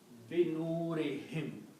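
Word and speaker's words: بنورهم: And then for the tajweed to be easy on the tongue, whom is also pronounced as him. Okay? So this is also pronounced as him. So the word becomes binurihim, of their light.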